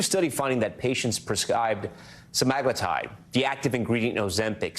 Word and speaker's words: semaglutide: Yeah, because a lot of people say it wrong. Yes, okay. Semaglutide is correct.